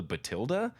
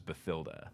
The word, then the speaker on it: Bathilda: keep thinking it was Bathilda well Jim did okay Jim Dale also pronounces it but till they tell that okay I always have read it to rhyme with Matilda which is also spelled